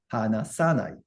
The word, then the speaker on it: 話さない: Sa gets stress. The stress moves from the na, hanasu to sa. hanasanai.